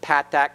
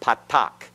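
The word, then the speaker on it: patach: remember the plants that Pat that not Patak Patak is a modern Hebrew pronunciation that loses the differentiation that is made between the path back and the Comets okay so Pat back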